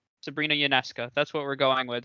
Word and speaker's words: Ionescu: I'm not a big WNBA fan, but I believe it's Ionescu. Sabrina Ionescu.